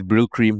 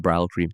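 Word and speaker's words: Brylcreem: quote one clarified that I have the right pronunciation it's Brill cream not brow cream ah okay okay yeah of course he also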